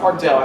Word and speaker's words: Pardot: It's Pardot, not Pardot. I just pronounced it right here. That's right. I thought it was French. Yeah, we're not French.